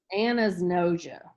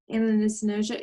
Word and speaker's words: anosognosia: Anosognosia. Anosognosia.